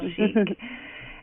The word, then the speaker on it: Schieck: It is a fun name to pronounce, Schieck.